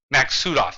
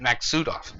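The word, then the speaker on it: Maksutov: my thing down there is okay so so max sudoff that's how you say that max sudoff it's a russian design i mispronounced it earlier max sudoff so um yeah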